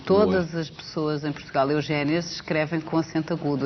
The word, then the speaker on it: Eugénia: O seu nome se escreve com acento agudo. Agudo. Todas as pessoas em Portugal, Eugénia, se escrevem com acento agudo.